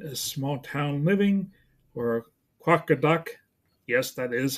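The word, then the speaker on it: Qaqortoq: then chapter 11 is small town living or quaka duck yes that is how you pronounce that quaka duck uh in Greenland talks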